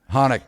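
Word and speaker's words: Hoenig: it's he corrected you think of it like Han Solo yeah hanik yeah hanik all right well we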